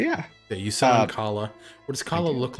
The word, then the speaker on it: Kala: Is it Kala? I believe that's how K-A-L-A? it's supposed to be pronounced.